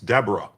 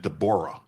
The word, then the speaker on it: Deborah: Maryland US District Judge Dborah Borman, and you might think it's Deborah, but she pronounces it Dborah, a n a Biden appointee, is a national disgrace.